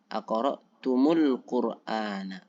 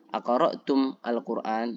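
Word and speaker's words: أقرأتم القرآن: Di sini perhatikan ada mim sukun. Kemudian bertemu dengan alif lam ya. Alif lam ya jelas sukun. Maka ketika terjadi seperti ini, bagaimana membacanya? Maka membacanya adalah mengharokati mim dengan harokat dhammah. Aqra'tum al-Qur'an. Nah, dibaca aqra'tumul Qur'an.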